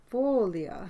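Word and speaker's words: Sfoglia: stitches has been K is called spolia and it's a silent G it's spelled SFO g l i a Folia yeah does it mean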